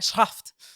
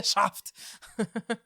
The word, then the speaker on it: Schaft: Eu sei que a pronúncia é tipo Schaft, mas eu vou pronunciar Schaft porque eu não sei fazer direito. Eu acho que é Schaft mesmo. Não, é Schaft. Pelo audiobook é Schaft.